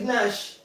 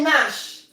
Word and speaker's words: gnash: Instead of saying gnash. You don't say gnash. You say Nash.